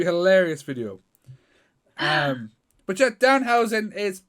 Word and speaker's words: Danhausen: Danhausen. Okay, I thought the first time that you said Downhausen. No, God, no.